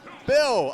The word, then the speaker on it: Byl: Is it Bill or Bile or B-Y-L? Bill? Bill!